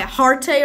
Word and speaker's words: Hearte: Hearte rhymes with parte.